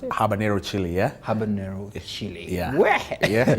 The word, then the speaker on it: habanero: here it's called habanero yes that's how you pronounce it habanero chili yeah habanero chili yeah in the office